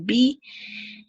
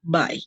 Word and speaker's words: by: No se dice be, sino by, como si se estuvieran despidiendo, pero en realidad no es eso lo que significa.